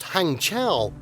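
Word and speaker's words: Hangzhou: pronounced hangchow hangchow is the capital city of the province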